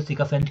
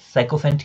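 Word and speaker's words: sycophant: ठीक है, इसके प्रोनाउंसिएशन में अलग अलग तरह का होता है, कोई सिकोफेंट कहता है, कोई साइकोफेंट कहता है, अलग अलग वर्ड इसके लिए यूज़ किए जाते हैं।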